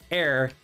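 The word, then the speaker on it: eyre: from uh air um that's hard to pronounce so here is the pronunciation air e-y-r-e um the author of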